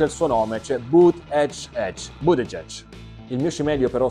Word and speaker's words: Buttigieg: Maglietta del candidato Pete Buttigieg che spiega come si pronuncia il suo nome, cioè Buttigieg.